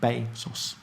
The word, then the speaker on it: Bezos: Including how to pronounce his name. Bezos.